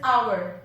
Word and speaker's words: hour: It is hour. The letter H is silent here.